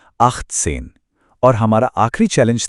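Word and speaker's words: achtzehn: इसके बाद है आखसेन। इसका सही उच्चारण है आखसेन।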